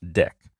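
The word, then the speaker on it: deque: let's now move on to the double-ended Q pronounced deck it's an ordered collection similar to a list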